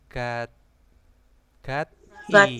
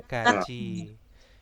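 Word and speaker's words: 같이: Di sini ada gat i. Gaci. Nah, bacanya gaji. Gaji itu bersama atau dengan ya. Gaji. Hah? Gaji. Gaji. Gaji. Bacanya Gaji. bukan gati.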